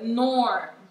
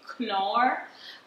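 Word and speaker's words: Knorr: this one is the norm brand i don't know how you pronounce it i pronounce it as nor some people say clore um so i'll be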